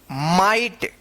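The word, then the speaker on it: might: तो यहां पे जी एच का कोई उच्चारण नहीं यानी साइलेंट रहता है और इस आई का आई उच्चारण किया जाता है।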